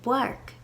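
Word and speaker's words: bpáirc: opt instead for eclipses the special buddy letter for p is B so unfork the park but beside the park in nakaleesh and bark the sound of the bee eclipses the P next you might want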